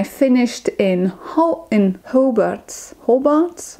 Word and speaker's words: Hobart: in Ho in hobart's Hobart I don't remember how they pronounce it it's a long o how about in Tasmania